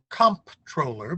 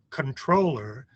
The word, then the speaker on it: comptroller: the state controller and everybody in Maryland government pronounces it comptroller because that's the way it's spelled but the word is controller which the way it